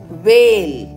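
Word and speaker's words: whale: அடுத்தது வேல், WH இரண்டுத்துக்கும் சேர்த்து இவ் அப்படின்றது சவுண்டு. ஏக்கு ஏ, எல்லுக்கு இல், இந்த ஈ வந்து மேஜிக் ஈ, அதனால் அதை நம்ம வந்து உச்சரிக்க மாட்டோம். இவ்வையும் ஏவையும் சேர்த்தா வே அப்படின்றது உச்சரிப்பாகும், வே இல், வேல் அப்படின்னு படிக்கணும்.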